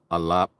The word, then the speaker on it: Aleph: And the same thing with the pronunciation of Aleph and Tav. Of course, we say Alap and Ta.